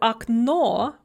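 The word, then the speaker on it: окно: words with two syllables, that are stressed on the second syllable in the singular, and then the stress shifts to the first syllable in the plural. So okno, window, becomes okna, windows.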